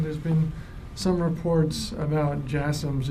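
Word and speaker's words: JASSM: been some reports about JMS if I'm pronouncing that correctly the last question yes jasms yeah you're pronouncing it correctly um I I don't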